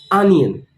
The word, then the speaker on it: onion: Again, the stress is on the first part of the word, onion.